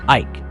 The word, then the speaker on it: Eyck: after him the name of Eyck, which is pronounced Eyck, and is Dutch for oak.